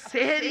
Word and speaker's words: সাহারি: রাতের শেষ অংশের খাবারকে আরবিতে সাহারি বলে সেহরি নয় তাহলে শব্দটা কি হবে সেহরি না সাহারি ভুলটা ভাঙলো বাপেরা বাড়ি